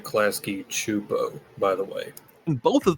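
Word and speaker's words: Klasky Csupo: What if I told you Klaskkeyo made the same show twice and ran I pronounce it Klasky Chupo?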